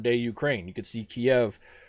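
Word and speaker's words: Kyiv: ukraine you could see kiev right there in the middle or kiev as it is correctly pronounced in ukrainian poland's in there all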